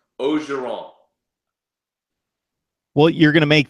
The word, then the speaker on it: Orgeron: And you caught the Orgeron. You're catching on to the Cajun pronunciation.